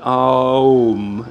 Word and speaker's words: Om: It's usually pronounced Om, so it goes through Om.